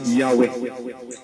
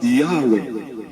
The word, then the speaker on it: Yahweh: the sacred name y hw ought to be pronounced yahwe the pronunciation Jehova was unknown in in Ancient Je circles judging from great transcriptions of the sacred name ys wx ought to be pronounced yahwe the pronunciation Jehovah was unknown in Ancient jewish